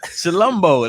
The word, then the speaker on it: Chilombo: Chilombo. That's what it looks with confidence, like. Bro. Like chill in Colombo. Okay, we got Chilambo.